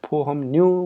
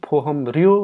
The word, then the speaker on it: 보험료: यसलाई फोहमन्यु भनेर चाहिँ हामीले चाहिँ उच्चारण गर्नुपर्छ है। फोहमर्यो होइन कि के भन्नुपर्छ त फोहमन्यु भन्नुपर्छ है।